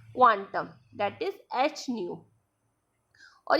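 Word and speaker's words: ν: और वी को new pronounce किया जाता है, जो होता है सी अपॉन लेमडा, ठीक है।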